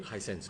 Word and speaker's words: Hisense: But the reason why you were there because you were recently just appointed the brand ambassador to Hisense. Did I pronounce it correctly? Hisense.